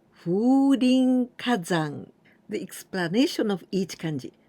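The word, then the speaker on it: 風林火山: The first one, here we pronounce fu, but this is kaze. Kaze, it means wind. And the second one is this one, hayashi, right? The woods or the grove. And here we pronounce rin. And now this one, ka or hi. Hi, it means fire. And the last one, here we pronounce zan, but we can also pronounce yama, and this means the mountain.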